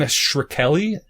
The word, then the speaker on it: Shkreli: is um Pharma bro Martin shrekelly is how you pronounce his name yeah Martin shkreli you know something the